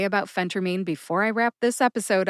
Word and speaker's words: phentermine: phentermine in my book Phentermine is the official pronunciation Phentermine is something that you may also hear people say so let's add that to our list some people say Phentermine others say phenter-min Phentermine is correct and Phentermine is something that I